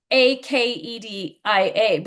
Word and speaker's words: acedia: Acedia, or I You say actually say Acadia. it. I say Acadia, Okay. There's another way. which is how the British say it, and I wanted to do Akedia because it's a Okay.